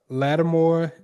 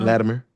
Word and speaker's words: Latimer: He launched the Lattimore. Am I pronouncing that? Latimer. Latimer, sorry, the Latimer Group, which aims to acquire Spirit Airlines.